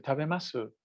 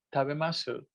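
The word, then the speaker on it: 食べます: Pero es una U como tragada. Tabemasu, te gozaimasu, ikimasu, su. Es como una U, así como tragada, ¿no? Pero normalmente se dice tabemas. Aunque se escribe masu, se pronuncia normalmente tabemas.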